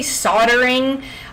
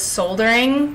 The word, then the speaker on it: soldering: Also, for everyone who is not in the United States, we say soldering. I know everywhere else pretty much says soldering because there's an L.